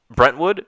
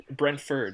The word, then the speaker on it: Brentford: the footy match enjoy was it right brentwood am i saying it right brentford brent ford okay french food and fulham